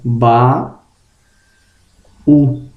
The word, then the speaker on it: baú: Observação: se a palavra for oxítona e terminar em I ou U, só vai ter acento gráfico se formar hiato na sílaba oxítona. Por exemplo, baú, açaí, Itajaí, Tambaú. Então veja que separando as sílabas, a sílaba oxítona ela é terminada em I ou U, mas será oxítona, né? Formando hiato, ó. Ba, U.